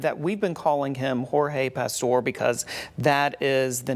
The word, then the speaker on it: Jorge: Police provided to us that's the traditional spelling for the Hispanic name but it is sometimes pronounced George and that is certainly how we're hearing it pronounced now as George um and and right